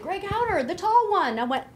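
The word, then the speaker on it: Hauter: So I called up my sister and I said, Greg, and she said, Greg Howder, the tall one.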